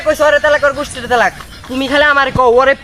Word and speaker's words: তালাক: দাড়াইলে এই জায়গায় কলকলা সহিত পড়তে হয় এখানে উচ্চারণ হবে তালাক তালাক ঠিক আছে এই যাত্রায় তোরা দুইজনেই